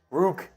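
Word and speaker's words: Ruke: for all figure out how the heck you pronounce ruk oro's name Rook I like that from time man I bet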